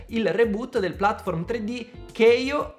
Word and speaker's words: Kao: reboot del platform 3D Keio, sì, ho scoperto che si pronuncia così e non Kao, The Kangaroo.